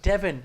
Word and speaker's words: Devin: Is it Divine? Is that how you say his name? Devin.